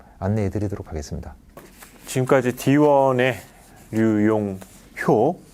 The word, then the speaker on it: 류용효: 지금까지 D1의 류용효, 예, 제가 호라고 잘못 네, 발음한 것 같습니다. 류용효 상무님과 스마트 제조와 PLM 관련된 말씀을 나눠봤습니다.